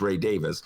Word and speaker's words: Ray Davies: not my whole life i've been mispronouncing ray davies name it's ray davis i was like come